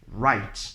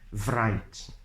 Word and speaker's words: write: W sound only they are sound should be pronounced words like wrinkle not wrinkle right not like right never never it has never been bright it's